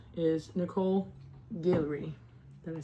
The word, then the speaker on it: Gillery: The last victim of the Jeff Savis 8 is Nicole Gillery. Did I say it right? Gillery.